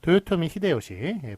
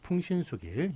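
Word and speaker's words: 豊臣秀吉: 그러니까 그 앞에 있는 것은 도요토미 히데요시 같은 경우는 일본식 발음이고요. 그 뒤에 있는 풍신수길 같은 경우에는 한국식 한자음 발음이네요.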